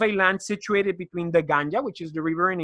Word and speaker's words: Ganga: Uh, it is like not ganja, it will be ganga. Ga.